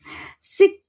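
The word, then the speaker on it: Schick: सिक test हम इसको बोल सकते हैं CH साइलेंट रख के डिफ्थीरिया के लिए.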